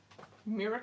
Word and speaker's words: Muira: right so let me show you that Mirror card that's what I'm going to call it m-u-i-r-a is what it's how it's spelled but this was the